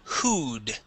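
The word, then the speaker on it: who'd: word words here um let's practice hood hood H yeah so this would be short for who had instead of who would okay it's who had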